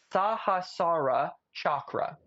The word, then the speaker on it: Sahasrara Chakra: to say it the way it should be pronounced. I want you to Google Sahasrara Chakra.